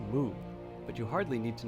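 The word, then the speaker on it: 木: like a small tent in Mandarin it's pronounced moo but you hardly need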